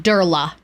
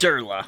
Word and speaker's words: Durla: Durla is how it's pronounced. Durla.